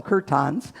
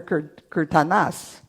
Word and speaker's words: Kirtanas: So I always called them kirtans, but they're Kirtanas.